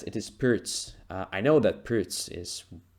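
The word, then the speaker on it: Pirc: Kuzma says it is Pirts. I know that Pirts is probably the authentic pronunciation, but I'm like, yeah, trying to pronounce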